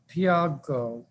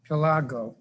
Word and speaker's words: Pilago: Daniel Del Piago, I mispronounced that, Pilago, who's with Empower DC.